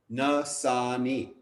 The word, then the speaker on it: Nassaney: Nassany.